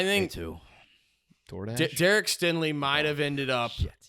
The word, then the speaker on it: Stingley: Singletary. Singletary. Yeah. Singletary. Yeah. No, it's Stingley. It's Derek Stingley.